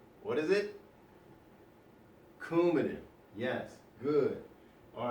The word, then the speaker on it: Coumadin: Notice that's a hard sounding C. Coumadin, right? So, what I want you to do is think about Coumadin and that K sound that it has, that hard C.